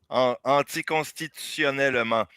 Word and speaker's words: anticonstitutionnellement: Anticonstitutionnellement is pronounced in French, and it's the longest word.